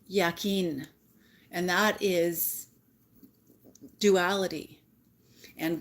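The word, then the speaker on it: Jachin: is indicative of unity the white pillar is J but that's pronounced yakin and that is Duality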